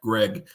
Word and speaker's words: Greig: And I recently discovered as a result of this incident that it is in fact Greg, not Greek on the pronunciation.